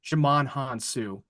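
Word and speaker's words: Djimon Hounsou: name very white but the right pronunciation of what I've been hearing is jaman hanu yeah I keep get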